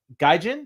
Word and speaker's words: Gaijin: here to talk about your book and uh gajin did I pronounce that right yeah and uh and a